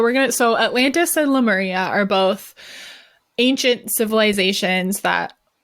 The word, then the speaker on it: Lemuria: connected to Lumeria too lemuria I would say Loom area but it's lemuria I know I'm gonna